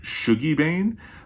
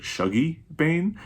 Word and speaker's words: Shuggie Bain: way i kept saying i have always pronounced it shogi bane but i saw a video with douglas stewart where he was talking about some of his favorite scottish books and he pronounces it shuggy bane so i'm trying to